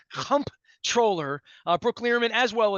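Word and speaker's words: comptroller: she made me say it's not controller pronounce that M pronounce at m p m p comp controller so I'm going to say comp troller uh Brook lman as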